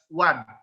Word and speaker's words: one: Jadi one day itu, although it's vowel O, but it's pronounced as one.